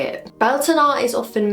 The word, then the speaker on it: Beltane: Not Beltane, Beltane, but we'll get into that in a minute.